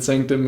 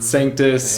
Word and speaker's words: Sanctus: Dude, you guys heard it from fucking Sanctum himself. Mm-hmm. Sanctus, hey, my bad. Not Sanctum, bro. You spell it? Yes. Okay, and then Sanctus, Sanctus.